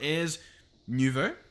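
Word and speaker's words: Ars Nouveau: um like look at this stuff we've got ayers nouveau that's how i've been told to pronounce it um britannia elemental craft and forbidden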